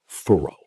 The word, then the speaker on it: thorough: Thorough. Throw. 2 syllables.